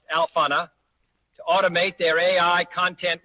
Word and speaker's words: Alphana: I urge everyone to use alpha.ai, that's pronounced Alphana, to automate their AI content workflow.